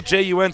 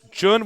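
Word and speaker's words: JJun: Our next matchup will be Moonglade against it's double J-U-N, so I believe it'll be Jun. That's how you pronounce the double J sound in Korean.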